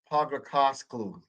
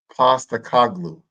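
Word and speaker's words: Postecoglou: Let's get the pronunciation right. And Postakoglu. There you go.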